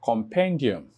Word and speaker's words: compendium: Now, the rule indicates that if a word ends with the suffix, and what's the suffix? The I-U-M. Then the main or primary stress would fall on will fall on the penultimate syllable.